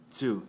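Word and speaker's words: つ: Chi and tsu from the T column are a little bit different. They don't begin with T. They're a little off. Well, not really off with the vowels. They both end in E, chi, tsu, u, tsu. So they still represent the E and the U, but it can be confusing because they don't start with a T.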